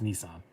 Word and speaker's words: Nissan: is actually how you say it in japan it is nissan my japanese sister told me that i know it's correct they do say nissan over there it's too big so our stupid american pronunciation is actually correct if he gets mad